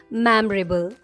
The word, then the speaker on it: memorable: How do you pronounce this word? Memorable? No, the right way to say this word is memorable.